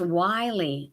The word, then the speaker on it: Wiley: good cool it's pronounced Wiley I'm a dork I'm sorry okay like a wily coyote I'm wondering why we